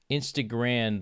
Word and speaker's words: Instagram: much, because I realize you guys don't really, like, pronounce the M like an M. You pronounce it like an N.